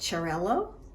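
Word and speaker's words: Xarel·lo: Pronounced Xarel-lo, Parellada, and Macabeo.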